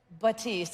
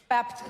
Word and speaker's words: Baptiste: Officially, Baptiste. There is the P in it.